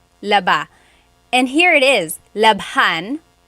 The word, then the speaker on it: labhan: And here it is, labhan. We had to add an H there just for pronunciation. That's kind of how they make the word flow.